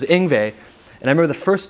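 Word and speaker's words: Yngwie: I thought it was Ingui, Ingvu, who knew what the name was gonna be. So it was Ingve.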